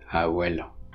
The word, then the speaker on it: abuelo: So in a word like abuelo, for example, the b is fricativized into v, abuelo.